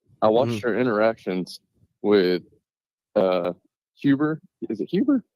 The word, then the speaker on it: Heber: But then I watched her interactions with Huber. Is it Huber? Heber.